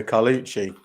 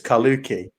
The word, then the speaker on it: Carlucci: for me everybody pronoun everyone calls me carlucci but it's kaluki and for the for